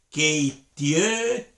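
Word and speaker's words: keittiötä: ejemplo, si alguien dice, Miguel viene y pronuncia mal y dice, keitiöta, suena como que se le cayó la cara, la boca, está mal, no, así no se hace, es keitiöta, esa A.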